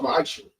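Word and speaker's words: מעשר: Means 10th in Hebrew and it's pronounced ma'asher.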